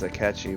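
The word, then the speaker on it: Akechi: I guess that's why his name is aatchi because it almost rhymes with sketchy it kind of feels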